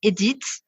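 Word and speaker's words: Édith: tried to pronounce before we say Edith in Australia edit like you know edit repeat after me please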